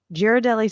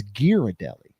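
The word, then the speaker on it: Ghirardelli: we've had this conversation I believe it's giradelli okay like a gear not Jer like Derek jer no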